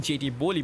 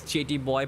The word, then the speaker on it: JT Boy: If I was actually wrong in pronouncing, I was saying JT Boli, but this is JT Boy.